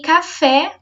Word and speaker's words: café: E café, por mais que a palavra café tenha apenas 2 sílabas, a última é a sílaba tônica.